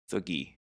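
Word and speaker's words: Thuggee: How do you pronounce that? Thugi.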